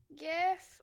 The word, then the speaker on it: GIF: Yeah, but also GIF stands for or GIF is graphics interchange format, right? Yeah. Like so it's a hard G when you're pronouncing graphics, right?